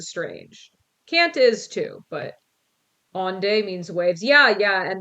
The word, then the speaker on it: Onde: He's like, you don't pronounce the E.